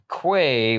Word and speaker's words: Quay: So it says on Wikipedia their last name is pronounced Quay, like you've been saying it. Quay, which is a noun for a concrete, stone, or metal platform lying alongside or projecting into water for loading and unloading ships, is pronounced as key.